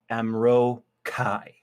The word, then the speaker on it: Amro Kai: And he's very careful to put the accent on the second syllable here, Amro Kai.